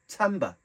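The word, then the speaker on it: timbre: but I've done some researching it and it's pronounced Timba okay so after showing the sounds or Timbers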